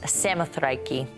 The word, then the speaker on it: Samothrace: by none other than the nike of samothrace originally pronounced samothreiki this masterpiece which is